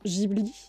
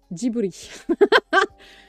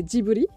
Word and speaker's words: Ghibli: pareil que toi ok je pense que beaucoup de gens le prononcent GHI il y en a qui font GHI et en fait ça se dit Djibril la prononciation la japonaise c'est Diboli et voilà Guetta reste